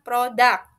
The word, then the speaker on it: product: Product itu bacanya bukan product, tapi product. It has a higher emphasis on the P sound, di kata P-nya, P-nya, silabel P-nya. Product, product, it should be higher and then fallen sound.